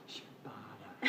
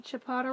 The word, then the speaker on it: ciabatta: Ciabatta.